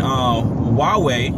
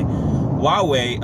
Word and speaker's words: Huawei: working with the voice over IP audio and Huawei, or it's spelled like H-A-U-W-E-I. Huawei, I believe it's a China company or Asia company, pretty much took all his stuff.